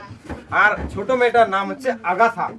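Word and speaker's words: Agatha: আর ছোট মেয়েটার নাম হচ্ছে আগাথা। আগাথা না কিন্তু আগাথা।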